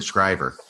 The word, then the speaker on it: Schreiber: Shriver and I think everybody calls him will Schreiber but then I'm talking to a guy who knows him and he said will Schreiber and I said what he says yeah he pronounced it scriber yeah he had the